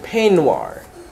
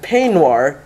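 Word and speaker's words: peignoir: right b-o-u-d-o-i-r and then you have the word panoir a woman's loose negligee or dressing gown so p-e-i-g-n-o-i-r you have boudoir the dressing room and penoir the dress that you wear in the dressing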